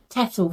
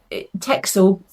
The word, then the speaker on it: Texel: spinning for Tour de Fleece, I bought 2 Texel fleeces. Now, you will probably find that during this video, I sometimes pronounce it Texel, I sometimes pronounce it Texel.